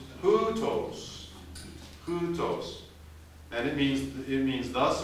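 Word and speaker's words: οὕτως: The next word has a rough breathing mark, and the accent is on the first syllable. So how would we pronounce this next word? Hutos.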